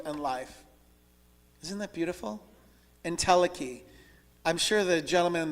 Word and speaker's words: entelechy: I'm going to pronounce this entelechy.